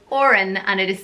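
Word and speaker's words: Odhrán: spelling for you but yeah it's the name Oran and it is spelled bode itch or a N and Oran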